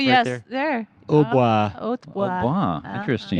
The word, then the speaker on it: hautbois: Hautbois. Hautbois. Wow, Uh-huh. interesting. In French, the T is silent.